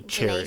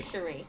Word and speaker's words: Cherie: Cherie or Cherry? Cherie.